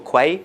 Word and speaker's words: Quay: It's built into Key or Quay, however you want to pronounce it, the CoreOS version of Docker Hub.